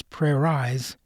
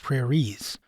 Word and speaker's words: prairies: And for the I in prairies, the rule says the e should make the eye long, but that would give us prayer eyes instead of prairies.